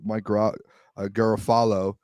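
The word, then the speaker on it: Mike Garafolo: Um, a lot of teams, it sounds like, at least the report, Mike Gerafalo, um, is I I learned recently is how you pronounce his name, said that they're staying put.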